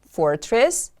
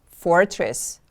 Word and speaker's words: fortress: Fortress, fortress. The stress is on the first syllable.